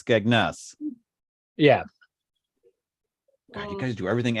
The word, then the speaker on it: Skegness: you have to but you have to emphasize the second syllable so it's skegness yeah you guys do